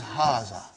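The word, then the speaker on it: هذا: is pronounced like haga but this alif is not written it is explained in the key also so it is haza okay means this and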